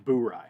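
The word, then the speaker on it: Bourye: let's talk about the bury so as you guys know bury is spelled b-o-u-r-y-e when i first saw this i did not know that was how it was pronounced in fact i was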